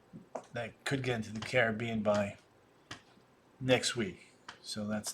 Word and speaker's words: Caribbean: You pronounce it Caribbean, but I say Caribbean. Caribbean. The Caribbean.